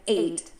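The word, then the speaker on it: eight: of to eat, and 8, the number. This is a really easy one today. We have lots of letters, but only 2 sounds. Both of these words are pronounced with a long A.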